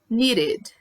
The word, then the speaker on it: needed: Need, needed, needed. Work, worked. Então, need termina com D, a gente pronuncia o E, né? Needed. Needed, ok?